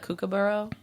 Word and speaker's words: kookaburra: I like the kookaburra.